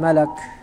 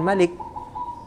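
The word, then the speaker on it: مَلَك: Tsumma qala lahal malak. Kemudian malaikat itu berkata. Ingat bacanya malak bukan malik. Malak artinya malaikat, kalau malik artinya raja.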